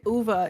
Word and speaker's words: Ove: listened to it and the narrator said UVA and I was like why are you getting fancy but then I realized that I'm pretty like yeah it's it's like a Swedish pronounced pronunciation all right so I'm